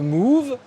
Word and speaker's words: Mouv: Alors il faudrait plutôt prononcer le move, mais pas le mauve, mais c'est ça, c'est la raison.